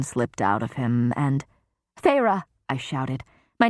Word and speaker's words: Feyre: Feyre, Amarantha said, testing my name, the taste of the 2 syllables on her tongue.